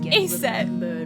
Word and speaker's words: Aset: Isis, the Greek adaptation of the name of her name in hieroglyphs is that, which by convention would be pronounced Aset.